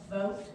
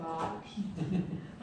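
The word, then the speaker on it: Bogt: Some people pronounce it vote, but we here in Dunnellon pronounce it Bot.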